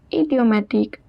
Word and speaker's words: idiomatiques: Quelques expressions idiomatiques. The word is pronounced as idiomatique.